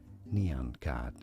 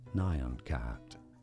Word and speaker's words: Nyan Cat: Well, it is generally accepted that the correct let's say pronunciation is as neon cat and this is probably the most common at least neon cat.